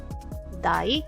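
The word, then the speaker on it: 大: Ani wa, este se lee dai, que es grande.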